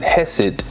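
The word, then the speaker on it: Chesed: as it is represented in the sphere of hesset if you look at the word hesit it is c-h-e-s-e-d just take the root c-h-e-s although we pronounce it hesit it's still chess okay the chest of osiris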